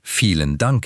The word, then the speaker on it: Vielen Dank: Chúng ta nói: vie-len Dank.